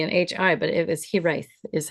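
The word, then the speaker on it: Hiraeth: And apparently it's, now I have to read my pronunciation. So it's Hiraith.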